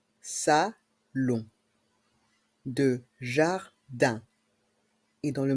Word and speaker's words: salon: le salon de jardin dans le mot salon le O et le n Se prononc on salon de jardin et dans